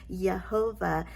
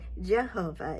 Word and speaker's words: Yehovah: stated in yesterday's video there is no J sound in the Hebrew language it is a y sound so it's actually pronounced yahovah even though we here in America typically say Jehovah either way is okay